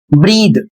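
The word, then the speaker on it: breathe: Spelling है बी आर ई ए टी एच ई। इसे पढ़ेंगे ब्रीथ। बहुत सारे लोग इसको ब्रीथ या ब्रीदे या इस तरीके से तमाम इसका उच्चारण करते हैं।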